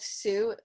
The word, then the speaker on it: Sue: That's her name, but Sue, like sewing a needle, that is pronounced the same, so it's confusing.